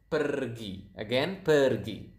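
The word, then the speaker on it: pergi: So as you can see here, we pronounce the R quite clearly. So it is kind of like Spanish. If you if you guys speak Spanish out there, I think you will notice that Indonesian pronounce the R quite similar to to this to to to the Spanish language.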